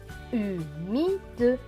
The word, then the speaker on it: humide: H et U. U, parce que le H ne se prononce pas. M et I. Mi. D et E. De. Donc ce mot va se lire U, mi, de. Humide.